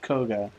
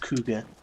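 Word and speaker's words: Kohga: relief to find to have confirmation that it is in fact pronounced koga and not something silly like kuga or something why would it be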